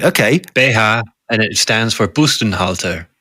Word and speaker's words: BH: How do you pronounce it? It's Beha. Oh, right. Okay. Beha, and it stands for Bustenhalter, breast holder.